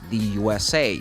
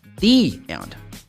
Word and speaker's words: the: the vowels a so when you have the definite article before a vowel sound you should pronounce like this the for example the United States the USA the UK so you always pronounce like the so you're are watching a movie when the movie is over you're going to see the end not the end okay the end so